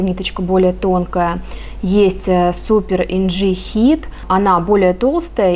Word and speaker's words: Inci: Сегодня расскажу вам о пряже от турецкой фирмы Naka, которая называется Super NG. Именно так правильно произносится это название. Буква вот эта C произносится в турецком как DŽ.